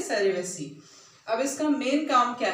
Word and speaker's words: cerevisiae: This is Saccharomyces is the genus, and cerevisiae, आप इसका correct spelling लिखना। देखो, CEREVISAE, ठीक है, सेरेविसी।